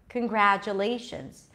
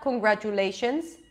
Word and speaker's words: congratulations: trying it with me so it's not congratulations not every syllable receives the same beat all of a sudden you have a long vowel Le a medium length vowel gra and two short vowels and J and shun so we get this